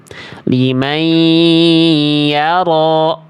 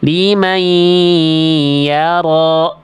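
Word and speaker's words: لمن يرى: Liman yara. Nah, itu cara melafalkan idgham biguna. Jadi dileburkan bunyi konsonan n-nya pada huruf berikutnya. Liman yara, gitu.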